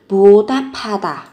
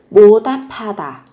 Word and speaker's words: 보답하다: Các bạn có từ 보답하다, nối âm lên, phát âm giống với âm p. 보답하다, 보답하다, báo đáp.